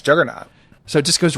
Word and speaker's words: Juggernaut: Because I think it's Juggernaut. So it just goes right into fucking Juggernaut. Jesus. I knew he was on accent. I think you just pronounced him as the Jorgernaut.